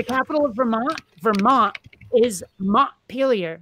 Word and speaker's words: Montpelier: of Vermont Vermont is Montpelier not mom failure earlier there's a town